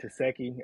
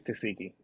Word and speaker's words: Tesehki: name I don't know I've been saying teki I think it's tsiki I got to train my mind to say toiki because naturally looking at